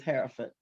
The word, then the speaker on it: Hierophant: Oh, or you can say the high priest, but it's Hierophant.